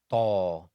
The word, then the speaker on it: ط: Ta is pronounced when the top part of the tip of the tongue, when it hits the roots of the upper incisors. Ta, ta, ta. Ta is also a heavy letter as well, with the emphasis on the tongue, as if you're saying toilet, tall. The tongue should stay flat as you pronounce ta.